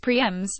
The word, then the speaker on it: primes: line to claim single lap prizes called primes pronounced Prix MS or the overall crown that same course that